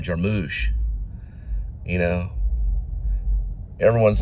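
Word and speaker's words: Jarmusch: Cormac Cormac Cormac McCarthy they pronounce his name a little different than how I do it kind of how rich Richard Linkletter will will pronounce Jim Jarman she pronounces them jarmus and everybody I know calls him jamush you know everyone's like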